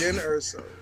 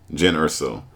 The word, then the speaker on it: Jyn Erso: No, it's Jyn Erso. Jen Erso. Yeah. For all the Star Wars fans, sorry. Her name is Jen Erso. We apologize for getting her name wrong.